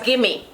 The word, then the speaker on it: gimme: The word in Patwa is gimme.